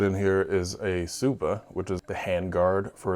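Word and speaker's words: tsuba: pieces they put in here here is a subba which is the handguard for a sword if I remember correctly I think it's spelled TS uba but it's pronounced subba um obviously I'll get some shots of it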